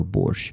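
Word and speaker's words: борщ: So it's borch. It's the proper way to spell it. Okay. The spelling, the right spelling. Uh so usually everyone is using the letter T in the end. No, in Ukraine we don't do that. There's no T in our borch. So borch let me that's how it is spelled in Ukrainian. So basically chu equals sh h ch. That's what borch that's what in borch is.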